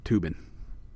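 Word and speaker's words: Toobin: By the way, Tubin is spelled T-O-O. Yeah, Tubin. B-I-N.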